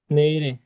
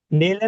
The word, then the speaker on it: 내일이: অনেকে কিন্তু বলো কি নেইল এ, 내일 নেইলে না, নেইরে। ইরে বাচ্চিমের নেইরে ক্লাসগুলোতে কিন্তু বলছি যে বাচ্চিমের পরে যদি জি। স্বরবর্ণ আসে, বাচ্চিমটা স্বরবর্ণের সাথে গিয়ে উচ্চারিত হবে।